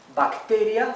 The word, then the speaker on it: bacteria: Bacteria se escribe igual, bacteria, ¿sí? Aquí tenemos dos consonantes, por eso la A adquiere su sonido corto, A, bacteria, ¿bien?